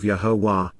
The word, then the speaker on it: Yahowah: significance of Peel imperative yahwah yahwah the proper pronunciation of yahwah our eloa God has directed in his Torah